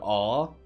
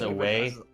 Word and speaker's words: awe: You know that South Africans are the only people that would see the word "awe," A-W-E, and pronounce it as away.